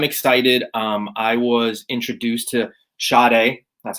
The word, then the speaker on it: Sade: I was introduced to Sade. That's how you pronounce her name.